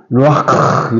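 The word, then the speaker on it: רוח: 구약에서 말하면은 루아흐 그 히브리 교수님이 얘기할 때 루아흐인데 흐라고 하면 안 되는데 가래 끓는 소리를 내야 된다고 루아크 이렇게 했는데 한번 보세요. 루아크 크 할 때 크 하지 말고 루아크 해보세요. 루아크 이렇게 해야지 히브리 교수님이 진짜 발음이라 해서 루아크 이렇게 해라 그랬어요.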